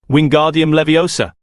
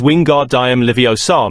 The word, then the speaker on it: Wingardium Leviosa: having much more luck Wingardium Leviosa he shouted waving his long arms like a windmill you're saying it wrong Harry heard herione snap it's wingar diam liosa make the gar nice and long you do it then